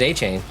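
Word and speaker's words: Achane: are you calling him a chain a train yeah his name's a chain that's literally isn't it that's how you say it yeah that's it that's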